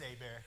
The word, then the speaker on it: Hebert: So Is it Herbert or Hebert? it's Hebert. But It is?